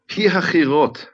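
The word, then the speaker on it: Pi-hahiroth: Now, how do I pronounce that, Nehemia? Pihachirot.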